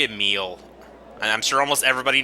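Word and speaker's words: Emille: You know, for the longest time, I pronounced her name Emily, but it's actually Emile.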